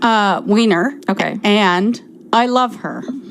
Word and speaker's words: Weiner: summer by jennifer weiner weiner how do we pronounce her last name uh weiner okay and i love her i love her